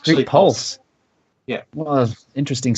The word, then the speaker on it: Pxlse: Pxlse, P-X-L-S, Pulse.